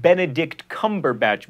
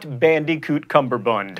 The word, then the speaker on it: Benedict Cumberbatch: is apparently a nerdfighter you say that benedict cumberbatch by the way not bandycoot cumberbund and that is the